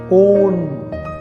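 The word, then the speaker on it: -one: कीटोन का secondary suffix है ONE, ओन, वन नहीं कहना, ओन।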